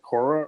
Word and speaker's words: Kora: electric ghost and we have uh do you pronounce it Kora or how how do you pronounce your stage